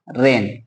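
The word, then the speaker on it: reign: ठीक है, आर को क्या बोलते हैं रे, ई आई को बोलेंगे ए, जी और एन आए तो हमेशा जी साइलेंट होता है तो हम लिखेंगे यहाँ पे रेन।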